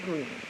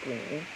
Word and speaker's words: Greene: Greene, that's Greene with a silent E at the end, discovered that they were expecting a baby girl.